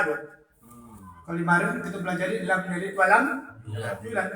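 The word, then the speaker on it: لم يلد ولم يولد: Kalau kemarin kita pelajari lam yalid walam yulad, bukan la yalid wa la yulad, tapi lam bikin lam yalid walam yulad.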